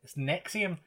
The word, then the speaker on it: NXIVM: It's spelt weird as well. It's Nexium, but it's NXVM or something.